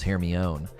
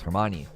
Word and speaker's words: Hermione: saw the movies and she was like Oh I thought it was hear me own like oh it's Hermione hold R2 and cycle